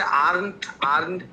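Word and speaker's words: aren't: এটা হচ্ছে আর্নট, আরেন্ট, দুইটাই উচ্চারণ আছে, ইউকে আর ইউএসএ।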